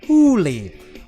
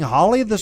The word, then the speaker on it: Holly: It says pronounced Hooli. Boy, have I been saying Holly wrong this whole time? Is it Hooli?